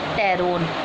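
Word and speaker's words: pteron: Class 2 टेरोब्रैंकिया group टेरोन. यहाँ पर P silent होगा.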